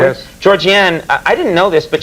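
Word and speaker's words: Georgianne: film and the world of television your wife georgian am i pronouncing it correctly yes georgie anne i didn't know this but she's the woman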